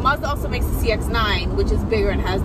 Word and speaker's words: CX-9: Is it CX or XC? It's CX. Mazda also makes the CX-9, which is bigger and has the third row.